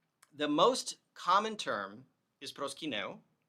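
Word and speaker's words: προσκυνέω: The most common term is proskyneo. Typically you would say proskyno in Greek. You would contract those 2 final vowels into an omega with a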